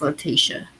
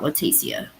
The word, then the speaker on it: Letitia: I know they did, but I don't know if you've been keeping up with I think, how do you say it? Letitia? I think it's Letitia, not Leticia, but Stout, or however you pronounce the last name, trial.